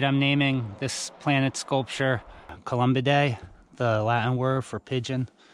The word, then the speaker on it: Columbidae: I think in America, in American English, we'll be pronouncing it Columbidae. That's how you say that on this side of the pond. Columbidae, planet Columbidae.